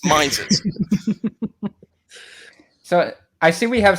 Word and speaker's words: Mises: No, it's the Mises caucus. That's how you pronounce it. Mises. I know Americans struggle with the English language, but, it's Mises.